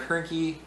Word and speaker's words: Hoernke: As always, I'm Hoernke, rhymes with turnkey, and this has been a production of Zero Value.